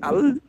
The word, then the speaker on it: El: El, ou appelé Al, c'est ça qui a donné Allah. C'est le même nom. Normalement, c'est prononcé El. El. El.